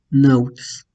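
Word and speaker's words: ναύτης: a tener esa pronunciación, pero si es ante una vocal, eh, entonces va a tener solamente la consideración que se está marcando. Entonces, si es ante una vocal, pues va a tener la representación de A ante una vocal. Y en este caso tenemos el ejemplo de nautes eh, que tenemos aquí. Tenemos el diptongo y entonces esto se pronuncia tal cual, nautes.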